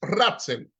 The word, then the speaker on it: Ratzel: Friedrich Ratzel. Ratzel se escribe R-A-T-Z-E-L. Friedrich Ratzel, que habló en el año 1897 de lo que era la conciencia geopolítica la geografía política.